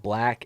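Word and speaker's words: 6LACK: there's a artist called black it's spelled with a six though so it's like six lack but it's called black I like him I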